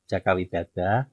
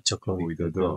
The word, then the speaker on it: Jaka Widada: Jawa, tapi Jaka Widada karena ejaan bahasa Jawa itu nulis dalam ejaan Romawinya adalah Hono Coroko itu Hana Caraka nulisnya. Sehingga bisa dibaca Jaka Widada, bisa dibaca Joko Widodo.